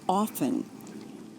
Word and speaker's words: often: The T should be silent and it should be often.